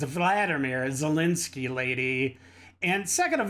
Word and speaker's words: Volodymyr: Okay, first of all, it's not Vladimir. What the frick pronunciation is Vladimir? It's Vladimir Zelensky, lady.